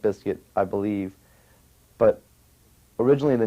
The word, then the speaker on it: Bizkit: them that much uh originally it was always pronounced Limp Biscuit I believe but originally